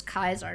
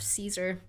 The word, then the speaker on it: Caesar: for others mutants included interesting that he says kaisar instead of Caesar I've noticed that like everyone that well I don't know about for mutants but for the humans everyone that pronounces Caesar as kaisar is like you know